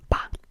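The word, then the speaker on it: 八: 8, 8, 8, 8, is ba. Ba. Like ba, like the sound that a sheep makes, but ba.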